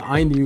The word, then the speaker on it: INIU: called the cougar p63 by a company called Inu so if you guys didn't know how to pronounce it before it's called IU like I wish I knew about Inu before